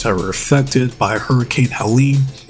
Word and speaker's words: Helene: were affected by Hurricane Helene. That's how you say it, because both of them are from North Carolina, so I'm sure they know people that might have been affected personally by the hurricane.